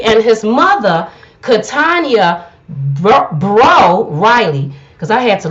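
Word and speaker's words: Breaux: sure i wasn't saying brooks because i wouldn't say a brooks b-r-e-a-u-x i would have all day long but they said the x is silent this is a french name and it's bro so i am saying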